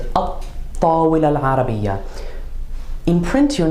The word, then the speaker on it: الطّاولة العربية: So if we were going to talk about the Arabic table, even though we have alif lam, the definite Arabic table, we're going to pronounce it at-tawil al-arabiyya.